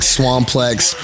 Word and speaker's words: Swamplex: So swamp rhymes with comp, also womp, like, you know, like, so it's like Swamplex, and it's like the